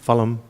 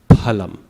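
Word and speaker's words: फलम्: Phalam, matam. So it's pa. Yes, PH is pa. So just a P, but more air to it. Phalam.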